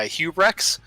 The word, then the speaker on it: hubrex: did no it's uh it's actually pretty easy to pronounce it's uh hubrex oh my god we've